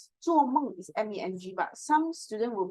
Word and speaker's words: 梦: Or O and E, like 做梦 is MENG, but some students will pronounce that 做梦 or 风很大 the wind is strong.